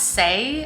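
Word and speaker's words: Saie: shade 4.5 and then i believe it's pronounced say s-a-i-e say beauty is a clean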